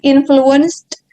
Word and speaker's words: influenced: Okay, when you try to pronounce this word, you don't need to mention the ed sound. The ed sound, nggak perlu dibaca ed di belakangnya. Just influenced, ada d soundnya, tapi bukan ed.